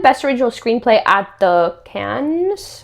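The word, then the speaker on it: Cannes: It did win best original screenplay at the Can's how do you say that?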